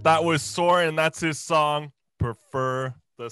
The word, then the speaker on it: Soarin: So Instagram is Soarin Music, and it's spelled Soaring without the G, Soarin.